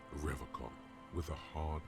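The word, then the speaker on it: Revachol: pile of soggy logs at his feet he pronounces rivercon with a hard k unlike other people you said uh revacal i like to pronounce it the hard way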